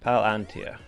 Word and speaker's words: Palantir: Is it the second syllable? Did I stress the second syllable? Palantir, yeah. Palantir.